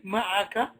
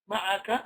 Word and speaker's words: معك: But look how it comes with immediately ma'a and then ka.